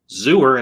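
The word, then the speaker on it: Xur: like it's xuer xuer and then Alex Rogan goes xuer and I might get rhymes with sewer which is where he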